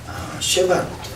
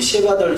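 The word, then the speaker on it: שבט: 쉐밧 월, 이 쉐밧 월은 그 발음은 샤밧. 우리가 그 토요일 안식일 샤밧과 같은 발음이 되는데요. 근데 끝자가 히브리 단어는 끝자가 다르죠. 슈브 앞에 쉰과 바브는 같은데 마지막 그 샤밧은 타보가 써야지고요. 여기서는 그 텍트가 쓰죠. 그래서 샤밧 같은 발음은 나지만 단어는 좀 다른 단어입니다.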